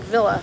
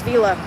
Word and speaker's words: Villa: Is it Villa or Villa? It looks like Villa, but I think it's Vela.